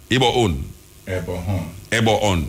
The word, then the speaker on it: Ebohon: We don't want to call him name wrong, because we don't feel when somebody call my name wrong. It's Ibon. Eh? Hello. Ebo On.